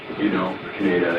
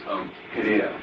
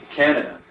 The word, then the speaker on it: Kaneda: I know it's something, but if somebody calls him like Canada, that's wrong, right?